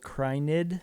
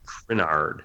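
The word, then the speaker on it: Crynyd: I might be pronouncing that wrong, but this is about Arvel Krynid. Arvel Krynard, yeah.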